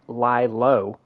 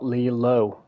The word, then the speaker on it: Lilo: I've just recently found out that it's actually Liow and Stitch, not Lelo and Stitch.